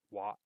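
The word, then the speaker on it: は: Ra, ri, ru, re, ro, ya, yu, yo, ma, mi, mu, me, mo, ha. A lot of the times it's a particle marker. Wa, hi, fu, he, ho,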